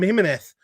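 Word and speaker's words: Jiménez: you mean it is though that's how they pronounce it like why do we call someone called jiminez we call him hymneth but we refuse why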